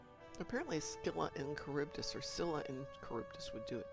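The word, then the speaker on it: Scylla: uh you put in the Greek uh pronunciation in American English it's sila and caribbdus I got into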